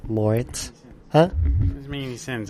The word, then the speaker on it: Moretz: Moretz.